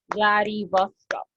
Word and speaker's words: Vladivostok: We read all the syllables. Vladivostok.